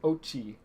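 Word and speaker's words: Oatchi: you pronounce it like you pronounce it oat like oatmeal except replace with Neil replace the meal and help me with Chi so Ochi oh all right I'm thinking like Japanese pronunciation but I guess it's it's Ochi yeah that that's a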